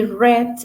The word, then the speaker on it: read: Read es el verbo sin conjugar y read es el verbo en pasado. Lo que cambia es la pronunciación. Read, read.